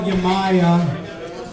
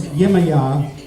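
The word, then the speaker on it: Yemaya: It's called Yamaya. The correct pronunciation is Yimaya. Yimaya is a Santeria Orisha.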